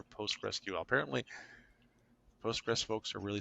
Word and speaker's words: PostgreSQL: and he scolded me because I said Postgress SQL and it's not pronounced that. It's either Postgress or Postgress QL.